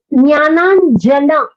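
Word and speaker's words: ज्ञानाञ्जन: Jnananjana. So it sounded like la. I was not too sure whether you pronounced it as la or na. It is Jnananjana Shalakaya. Nakara.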